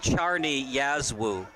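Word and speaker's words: Czarni Jasło: penalty kick recruit leagues the team name it's pronounced Charney Yazoo oh my goodness we were way off base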